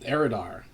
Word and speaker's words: Eridar: Am I pronouncing that Yep, right? Eridar.